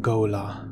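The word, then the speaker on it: Ghola: pronounce it Goler Frank Herbert pronounces this word go la Gola gola the word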